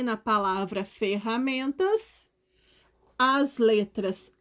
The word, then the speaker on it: ferramentas: no meio da palavra porque quem ferramentas é o som do r é forte porque ele está duplicado no meio da palavra entre duas vogais então repetindo como é